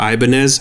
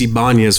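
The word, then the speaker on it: Ibañez: mad at me because i would say the guitar ibanez and she's like it's ibanya's fool you need to say it right like yeah how important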